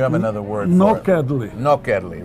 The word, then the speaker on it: nokedli: Nokedli.